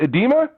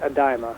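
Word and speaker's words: Idema: Now, that was a tourney won by fellow Canadian Daniel, is it Edema? Yeah. I think he pronounces it Adima.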